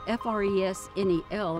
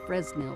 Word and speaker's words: Fresnel: lens because it's spelled f-r-e-s-n-e-l americans like to say it's a fresnel lens however the man that invented this type of lens for lighthouses was a frenchman and so we have